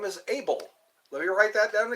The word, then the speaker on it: Abel: so your name is Abel let me write that down again oh oh my goodness able as in I am able I am able to